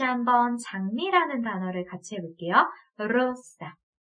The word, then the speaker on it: rosa: 우리 영어로 장미하게 되면 rose, 네, 혀끝이 말려서 공중에 떠서 발음을 하게 되는데 스페인어에 굴리는 R 발음은요, rosa. 네, 이렇게 정말 그야말로 굴러가듯이 발음을 해줘야 돼요.